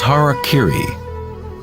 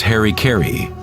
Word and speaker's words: harakiri: one form of ritual suicide or seppuku was harakiri was often mispronounced as Harry Caray it means to impale one's Hara thereby cutting